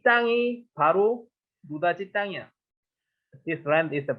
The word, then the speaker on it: 노다지: This pronunciation of no touch, we Koreans misunderstand it and change 노다지. 노다지 is saying so similar in pronunciation, so similar in no touch, 노다지.